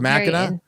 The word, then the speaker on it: Mackinac: Is it the Mackinac Island? Mackinac Island. It's in Michigan. What? Oh, that's how you say it. It's Mackinac?